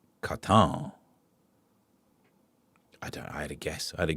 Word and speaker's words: Wotan: Uh, Wotan is pronounced with a Germanic a W. So it's uh, Katan.